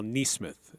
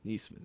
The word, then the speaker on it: Neesmith: A mispronunciation on my part. Carl Neesmith is how you pronounce his name. Neesmith, yes.